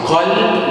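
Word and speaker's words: قلب: Because qalb with qaf, heavy letter, it means heart.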